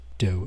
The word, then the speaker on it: Do: From that point, Doe and T, pronounced Doe and T, as the two now